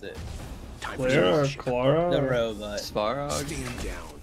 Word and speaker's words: Svarog: Because I can't ever figure out how to pronounce it. Clara? Clara? The robot. Svarog. S-V-A-R-O-G.